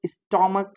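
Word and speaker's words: stomach: ঠিক আছে তাহলে এবার স্টমাক স্টমাক স্টমা স্টমাক এখানে তোমার কো উচ্চারণ হচ্ছে চ উচ্চারণ হচ্ছে না যার কারণে আমরা এখানে শুধুমাত্র এস লাগিয়েছি না মনে রাখতে হবে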